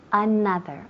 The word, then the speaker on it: another: Okay, she said another perfectly, but I want you at home, en casa también, to pronounce the word perfectly. Another. Another. Another. Muy bien, muy bien. Country. Country. Muy bien, country. So remember, not another ni country.